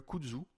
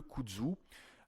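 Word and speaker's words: kudzu: Le kzu par exemple réduit l'envie de fumer en attant en atténuant les symptômes de manque.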